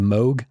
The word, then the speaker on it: Moog: i think that uh synthesizer aficionados will insist it's called moog oh yes sorry the moog grandmother is just not how it's spelled so really kind of